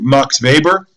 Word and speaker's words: Max Weber: scholar the name of Max Weber you can pronounce it Max Weber but scholars at least all thank you sounding kind of dumb so say max Weber sohbats Weber actually talks